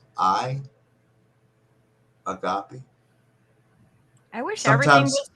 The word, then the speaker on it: agape: the unconditional love how was that spelled Agape agapy a g a p i agopi I wish spelled that way like it SP